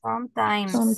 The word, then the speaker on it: sometimes: of this one listen do I have a letter s in the end yes or no yes so the pronunciation is sometimes sometimes sometimes be careful guys